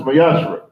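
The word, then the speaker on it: מעשר: You can find this in Numbers 18, verse 21, and Malachi 3, verse 8 through 10, means 10th in Hebrew and is pronounced Mayashra.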